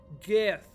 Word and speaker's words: GIF: Graphics is a hard G. GIF. Graphics. Not giraffics.